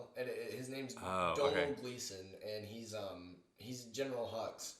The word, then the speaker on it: Domhnall: He's Scottish or Irish, so you pronounce his name Donal. It's like it's spelled like Domhnall, and his name's Donal Gleeson, and he's General Hux in the yes.